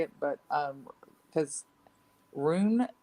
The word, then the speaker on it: Rune: I can spell it better than I can say it, but because Rune, I think is how it's pronounced, RUNE.